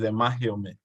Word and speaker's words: Amakiome: The correct pronunciation is Amakiome.